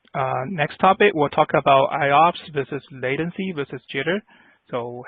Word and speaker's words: IOPS: IOPS stands for Input-Output Operations Per Second, and it's pronounced IOPS.